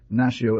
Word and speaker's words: Nacido: other with these words, Nacido el Niño. The child is born. Note 8040. The law of least effort causes the D to disappear in pronunciation, and usually one says, Nació el Niño.